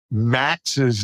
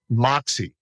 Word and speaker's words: Maxe: old when I finally found out how to pronounce George Max's name because that's not the way you say it it's Moxie right but I have to let you know